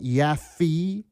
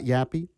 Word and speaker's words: Yaffee: And make sure to say it right, Yaffee, not Yappy.